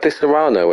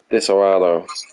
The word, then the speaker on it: Disaronno: Disaronno. No, I'm not getting your messages right because I know what you're doing. Disaronno. Disaronno. Yeah, but you're pronouncing the O too much. Disaronno. Disaronno.